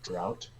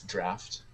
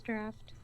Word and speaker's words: draught: Also, I can't not call you out for saying drought. Draught. It's draft. It is draft. Really? Spelled D-R-A-U-G-H-T. Correct. Is pronounced draft.